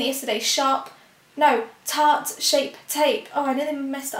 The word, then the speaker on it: Tarte Shape Tape: So I was saying it yesterday, Tarte Shape Tape.